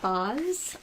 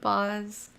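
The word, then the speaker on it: Bas: artist and that is baz i think that's how you pronounce it i pronounce it like nas but boss i overthink it but um i've got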